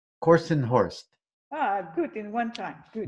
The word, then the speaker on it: Kortenhorst: Kortenhorst. Kortenhorst.